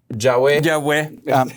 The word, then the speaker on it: Yahweh: Eso nos viene a testificar entonces que Jesucristo, Jehová, o en el hebreo lo pronunciarías Yahweh.